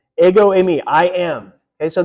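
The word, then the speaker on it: ἐγώ: Let's pronounce it. Go. Ego, right?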